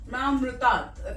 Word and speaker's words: Mahamrityunjay: But many people pronounce it as Mahamrutat. Mahamrityunjay.